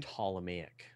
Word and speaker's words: Ptolemaic: ahead of their time Ptolemaic right and that's and that has a silent P guys yeah the Potala me